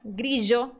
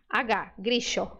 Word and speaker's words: grillo: uma delas tá ó el dígrafo eg pode ser pronunciado como I pode ser Gril Grill pode ser pronunciado como J grijo grijo pode ser pronunciado como DJ d d grido grido ou pode ser pronunciada como sh gisho gxo mencionando que esse som costuma ser usado muito mais pelos nativos uruguaios e argentinos da Província de Buenos Aires tá então se você